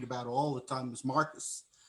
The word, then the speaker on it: Marcos: even call Marcos like he's like a Jewish guy, Marcus. Marcos, Marcos, not like Neiman Marcus.